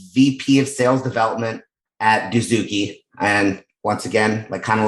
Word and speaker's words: Dozuki: of sales development at Dozuki. And once again, kind of like Homer Simpson. Did I say it wrong? I probably said it wrong, didn't I? Dozuki, that's right. Okay, I said it right.